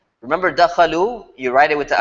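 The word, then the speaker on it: دخلوا: When the pronoun's gone, you write the alif. It just has a cool style. You just write it and don't worry about why it's there. Dakhalu, don't pronounce it.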